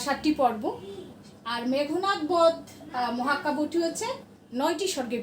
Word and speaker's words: মেঘনাদ: নিয়ে তিনি তৈরি করলেন মেঘনাদ বধ। একসাথে হবে কথাটা, মেঘনাদ, উচ্চারণটা হবে মেঘনাদ। দেখবে কেউ কেউ বলে মেঘনাদ, না মেঘনাদ নয়, উচ্চারণটা হচ্ছে মেঘনাদ।